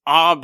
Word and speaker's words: Abe: When I got the email, Amrael said, "Now, Jason, this is how you pronounce the girl's name. It's Abe."